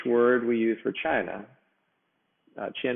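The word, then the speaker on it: Qin: we use for china chin is pronounced chin like china all the while the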